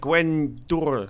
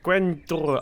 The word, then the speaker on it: Gwenddwr: I can't pronounce apparently it's something like Gwen door or something Gwen door I know it looks not it sounds nothing like it looks but we're gonna call